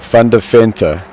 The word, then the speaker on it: Van Deventer: His pronunciation is Van Deventer.